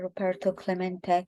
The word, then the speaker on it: Roberto Clemente: Roberto Clemente was his name, and this is pronounced Roberto Clemente.